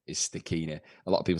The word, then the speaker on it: Stachini: uh i've never heard the second day being pronounced starchy before um the correct pronunciation is stakina a lot of people say staccina or yeah if you're lee tomo arie starchy